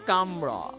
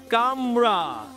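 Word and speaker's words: camera: যে স্পেলিং আছে সেটাই, কিন্তু উচ্চারণ হবে হচ্ছে কামরা। কি হবে? কামরা। কি? ক্যামেরা, ক্যামেরার যে স্পেলিং সেম স্পেলিং, কিন্তু প্রোনাউন্স হবে কামরা।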